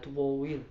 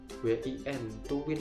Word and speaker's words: TWOWIN: Ada Tuwin gitu, gimana sih ya tulisannya? TWOWIN, Tuwin ya bacanya ya, mungkin kali ya.